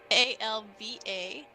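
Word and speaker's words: Ailbhe: it's Alva. She changed her name. And Blonid. Wanted. Spelled BLA with a accent mark. BLATHNAID. Oh my god. Nice. What a name. And then Alba is spelled. I'll let you know. It has 15 letters and it's 1 syllable.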